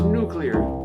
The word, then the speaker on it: nuclear: For you see, I always thought the word was nuclear. As in nuclear power, nuclear generation. But now I find the word is really nuclear. Nuclear. Nuclear is the proper pronunciation. Yes, it's nuclear, nuclear, N-U-K-U-L-A-R. Say it. You'll come to love it.